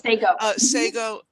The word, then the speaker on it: Sago: in the two really big, well-known mine disasters, Sago, is that how you say it, Celeste? Sago? Yes, Sago.